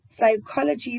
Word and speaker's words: psychology: Psychology phonetically starts with the sound P. It phonetically starts with the sound P, but it reads psychology, which when you listen to it starts with the sound S, which is not what you see when you read.